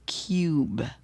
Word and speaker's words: cube: So this word is cubcub and this word is cub but with the silent e it's cube cub cube.